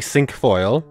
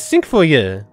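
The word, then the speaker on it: cinquefoil: pronunciation and then found the English pronunciation for it is literally sink foil and then the French pronunciation is sink for you which makes sense and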